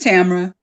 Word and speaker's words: Tamera: you is it is it i want to pronounce this correctly is it is it tamara or tamara just tamara yeah not just not just just it does